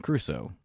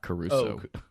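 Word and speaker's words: Crusoe: it's just kuso what Robinson cruso not Caruso I don't care how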